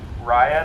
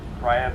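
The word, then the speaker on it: Riah: And then we have, I haven't heard this out loud, so I'm just gonna guess how I think it's pronounced. Raya, that's R-I-A-H, Raya Milton.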